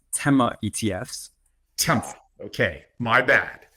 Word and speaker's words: Tema: cojan he is the Chief investment officer of temo ETFs Yuri how are you very good thanks